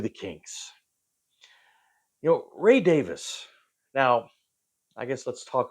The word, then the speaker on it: Davies: and Dave and say Davies but from what I understand they pronounce it Davis so that's what we're gonna say anyway Ray Davis one of the great